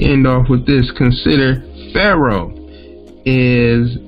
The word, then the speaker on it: pharaoh: actually isn't a name in egyptian it is pronounced by the egyptian symbols per eye and means great house so in building his